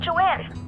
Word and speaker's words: Joan: I was going to eat with Joanne. Over and out. It's weird how they say Joanne pancakes even though it's spelled like Joan.